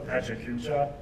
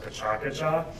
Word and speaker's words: PechaKucha: Whitehead has a variety of forms, and one that I believe Hayes invented himself is called, I call it the Pechakucha, but it's actually pronounced Pachakacha.